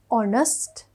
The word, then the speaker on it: honest: පාරමී is an honest girl.